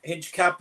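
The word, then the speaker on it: Hincapié: You know, you don't pronounce the H.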